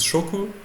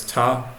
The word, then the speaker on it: 食: This kanji was used, it means eat and food, and it can be pronounced in many ways. One of them is shoku, meaning as in shokuji, and as ta, as in taberu, which was used over here.